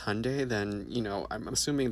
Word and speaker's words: Hyundai: our people because Hyundai, pronounced like Sunday, not Hyendai, like you're saying, is a Korean company.